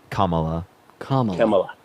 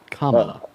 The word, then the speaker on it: Kamala: wait, sorry, repeat how you pronounce her name? Kamala. Kamala.